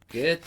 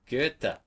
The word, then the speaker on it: Goethe: Wolfgang von, oh, you all know how to pronounce his last name by now, don't you? Goethe. Let's do it. Goethe. Goethe.